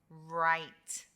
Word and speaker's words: right: as in butterfly er wr makes the sound r as in right right it's a silent w so you hear the r sound right right perfect